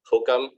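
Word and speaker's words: HOCM: hypertrophic obstructive cardiomyopathy or hokam a lot of people call HCM as hokam because it's easier to pronounce hokam but hokam is actually reserved for obstructive form of HCM not uh not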